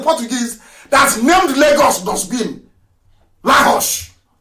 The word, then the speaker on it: Lagos: Lahos. Lahos, that's the correct pronunciation.